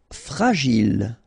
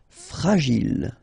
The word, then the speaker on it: fragile: Fragile. Okay, final E not pronounced. And then when you get this G and I, J. Gile. Fragile.